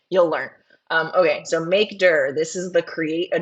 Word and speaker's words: mkdir: the slides okay uh make dur that's what it's mkdir but that's called maker um that's how you would pronounce it I can also make notes of that LS PWD make dir if you say mkd-i-r No One's Gonna know what you're saying um if you say